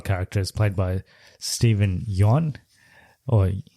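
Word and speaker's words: Yeun: yon or young well it's it's spelled Yuan like y-e-u-n yeah but I've watched interviews with him and Conan he seems to be on Conan a lot and he said that Conan was saying his name wrong for like eight years apparently it's yawn okay yeah so he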